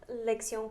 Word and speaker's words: lección: Lección 4.